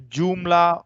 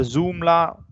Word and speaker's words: Joomla: The Joomla or the Zoomla, however you pronounce it as, Joomla.